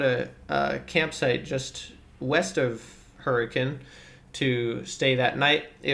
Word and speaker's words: Hurricane: from there we continued back west um towards hurricane utah or spelled hurricane but we were informed that locally it's pronounced hurricane so if you want to fit in and